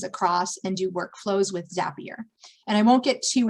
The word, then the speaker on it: Zapier: Zapier, which rhymes with happier, will send, it's basically an in-between interface.